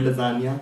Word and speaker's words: lasagna: Because in the word lasagna, the letter G is silent.